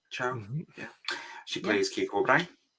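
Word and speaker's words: Chao: Chow?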